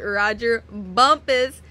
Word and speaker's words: Rodger Bumpass: that plays Squidward and yes his name is pronounced Roger Bumpus don't get it wrong it spelled otherwise but